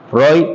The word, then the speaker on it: Freud: Freud tal cual sigm Freud se escribe F r e u d y se dice Freud F r e ud o sea sería algo así como Freud Freud verdad pero en